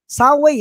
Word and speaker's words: Saway: Saway, ang bigkas dyan, wag mong sabihin Saway.